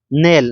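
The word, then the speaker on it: knell: नेल। नेल में भी क्या है? के साइलेंट है।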